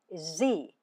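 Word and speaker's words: Sie: for youu singular and plural is z written with a capital s i e that is the formal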